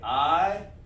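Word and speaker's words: עילם: Ayalam, and we're going to go over some of the, you say I-ya-lam, like that. And we talk about those connectors, that's how you pronounce it.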